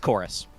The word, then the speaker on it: Chorus: Usually written as Corvus, with the Roman U as the V, but it's pronounced Chorus.